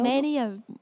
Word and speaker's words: Manteo: March 30th, she'll be in Manteo. Is that how you say it? Manteo? Manteo.